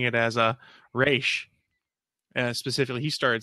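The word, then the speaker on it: Ra's: They're external to the League, whereas those that call him Raish know the proper pronunciation or giving him the respect properly due.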